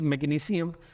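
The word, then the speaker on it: magnesium: इनको सीन के साउंड से भी पढ़ा जाता है और असल प्रोनाउंसिएशंस यही हैं, जैसे मैग्नीशियम, पोटेशियम एंड कैल्शियम। लेकिन हमारे यहाँ एशिया में चूँकि इन्हें शीन के साउंड से पढ़ते हैं तो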